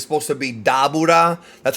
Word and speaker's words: Dabura: that's the pun um you know people say dor because that's kind of like the FUNimation pronunciation but it's supposed to be daura that's how they pronounce it in Japanese uh